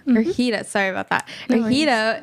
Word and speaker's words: Ergida: I can't pronounce her name. I'm so sorry. Can you say it one more time? Yeah, it's Ergida. Ergida.